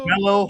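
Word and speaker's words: Romello: Second guy, Ro, how do you pronounce his first name? Romelo Romelo Heights.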